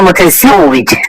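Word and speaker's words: متزوج: আমি বিবাহিত এটা আরবিকে বলবেন আনা মুতাজাওয়িজ। আনা মুতাজাওয়িজ আমি বিবাহিত। এখানে একটা জা আর একটা জিম, প্রথমটা হচ্ছে জা এরপরে জিম।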